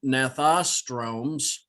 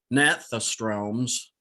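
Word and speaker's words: gnathostomes: and so on then nathostromes uh excuse me i mispronounced pronounce that nathostroms stones there's no r those were jawed fishes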